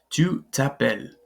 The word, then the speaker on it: t'appelles: So notice, even though we have that S there, it's not pronounced. In French, a lot of the final consonants are not pronounced. So, je m'appelle, tu t'appelles. They sound the exact same at the end of the word.